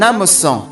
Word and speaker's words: hameçon: Son hameçon. Hameçon, masculine noun beginning with a silent H.